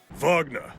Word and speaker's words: Wagner: Wagner. Because that's not how it's pronounced.